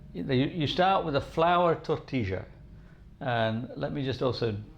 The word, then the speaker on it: tortilla: will call it a tortilla. But I'm from Argentina, from Buenos Aires, and we speak a dialect called Rio Platense, and the double L in Rio Platense is je. So I pronounce it tortilla.